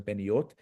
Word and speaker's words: Peniot: So the additional syllable in Peniot makes it a little bit harder. You have to rush into Peniot.